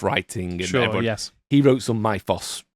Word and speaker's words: Mythos: and he wrote some myos Mythos I remember you got told off on a comment you Mythos is the is the real pronunciation yeah the myos of